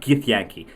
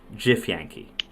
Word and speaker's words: Githyanki: It's not Githyanki, it's Githyanki.